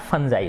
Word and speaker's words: fungi: वैसे नॉर्मली हम देखेंगे तो फुंगी बोलेंगे ज़्यादातर कोई बच्चा, ठीक है ना, लेकिन ये इसका उच्चारण कैसे होता है, फंजाई होता है।